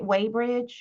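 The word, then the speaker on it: Weybridge: So, in the book, um, am I pronouncing his name right? Waybridge? Yes. Okay. Yep. That's the town I live in. Um, you have been to Waybridge, Dolan.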